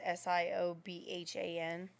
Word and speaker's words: Siobhan: Like the name Siobhan is Siobhan. Yeah. Like the pronunciation, like BH is a V sound in traditional Gaelic pronunciation.